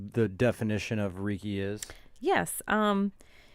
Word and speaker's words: Reiki: into it describe what like the definition of Reiki is yes it's it's pronounced Reiki and it's REI ki and it has of